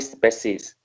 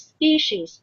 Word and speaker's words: species: So it's caused the extinction of aquatic species. Okay. This word will be pronounced as species.